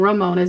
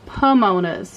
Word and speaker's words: Pomona's: So I apologize if I was saying Ramona's. It's actually Pomona's, I think is how you pronounce it. I don't know why I was thinking that that was an R, but it is actually a P.